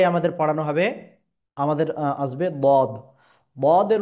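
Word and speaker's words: ض: আচ্ছা, তারপরে আমাদের পড়ানো হবে, আমাদের আসবে বদ। বদের উচ্চারণ ক্ষেত্রেও মোটাভাবে আওয়াজ উচ্চারিত হবে। কিভাবে? বদ, বদ। বদ, বদ, তিন আলিফ বরাবর টেনে আমাকে পড়ে নিতে হবে।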